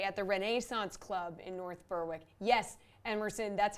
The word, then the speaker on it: North Berwick: All right, the Genesis Scottish Open beginning on Thursday at the Renaissance Club in North Berwick. Yes, Emerson, that's how you pronounce it.